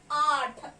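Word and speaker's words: आठ: I am going to write in Hindi like this, and I call the number 8 in Hindi as Aath.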